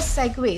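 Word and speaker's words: segue: तो दोस्तों इसके बाद हमारा अगला वर्ड आता है सेग्व। दोस्तों इसे सेगवे प्रोनाउंस किया जाता है जिसका मतलब होता है सहज पर फिर बिना रुके आगे बढ़ना।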